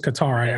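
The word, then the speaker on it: Kattar: versus calvin kadar i i always said his name was qatar i was pronouncing it yeah i would say guitar as well yeah calvin kader what an amazing [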